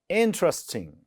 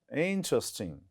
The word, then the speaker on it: interesting: interesting is stress is on the first syllabus interesting right interesting then contain this written like this contain look